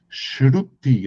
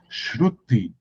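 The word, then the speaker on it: श्रुति: O nome disso em sânscrito é Shruti, é uma palavra complicada de pronunciar. Shruti, Shruti.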